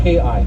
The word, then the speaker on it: ki: Yeah, it's spelled T-I, or in Hawaiian, or I think Samoan Tongan is K-I, ki.